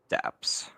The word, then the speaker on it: Dappz: It's DAPPZ. Daps.